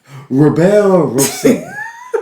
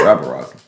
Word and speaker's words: rabble rousing: Rebel Rosing. Rebel Rosing. What is Rebel Rosing? That's rabble rousing.